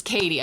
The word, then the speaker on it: Cady: Oh, Elizabeth Cady Kate It's Katie. I looked it up this morning. Elizabeth Cady Stanton. I've been saying it wrong my whole life.